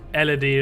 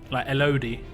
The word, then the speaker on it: Elodie: through it quickly but it's pronounced Elodie and not led hahahaha I know some people would like I like l-l-l-l-like LOD instead of Elodie I don't know